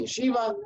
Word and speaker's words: Yeshiva: and the Chicago Yesa I'm contractually obligated to pronounce it Yeshiva um but they're not